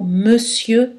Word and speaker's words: monsieur: tomber l'ombre plon attention exceptions suivantes le mot monsieur ne contient pas de voyait nasa le mot